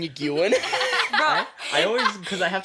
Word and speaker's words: Nguyen: I don't know why I always I was Because- saying you Gwen.